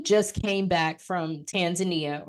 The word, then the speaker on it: Tanzania: came back back from Tanzania or Tanzania is is really how it's pronounced if you're over there but I came back